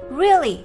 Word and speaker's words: really: Từ này đọc là really. Trọng âm rơi vào âm tiết thứ nhất.